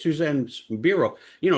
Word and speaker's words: Biro: So anytime Suzanne's on something giving her website and she says, "Hey, it's Suzanne Bureau."